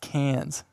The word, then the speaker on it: Cairns: a small difference cans Cairns every time I try and say that enough really well c-a-i-r-n-s like oh it's actually pronounced cans anyways in an Australian accent I wouldn't even dare